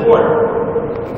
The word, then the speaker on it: wort: the liquid they just cooked up, known as wort. Wort is spelled W-O-R-T.